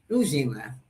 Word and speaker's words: Ujima: Now, this word I think I might be able to pronounce this one. Ujima. Ujima.